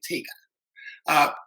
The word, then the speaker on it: TGAA: Actually, that's the Tallahassee Gay Athletic Association, pronounced TGAA, TIGA.